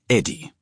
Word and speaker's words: Eddie: My name was, but friends called me for short. In English, the name is pronounced Eddie.